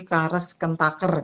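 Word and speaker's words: Karush–Kuhn–Tucker: ada metodenya yaitu misalnya di sini tadi ya kemarin itu ya ada pengali kondisi kares kentaker gitu ya ini bacanya kares kentaker teorem ini KKT kenapa ada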